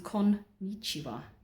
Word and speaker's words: konnichiwa: What people don't realise is there's actually two N's in konnichiwa. So you actually have to pronounce them konnichiwa.